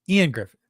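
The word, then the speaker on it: Ioan Gruffudd: He's Welsh and his name is pronounced Ian Griffith. Thank you. Man, that is not how it looks.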